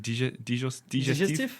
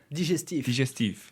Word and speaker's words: digestif: How do you pronounce it? Digestif. Yeah. Say it again. Digestif.